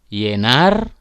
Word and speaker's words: llenar: Sedangkan double L diucapkan Y. Contoh llamar, llenar, lluvia.